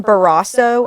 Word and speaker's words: Barrasso: Senator John Barrasso, I think is how it's pronounced, Republican from Wyoming, took to the Senate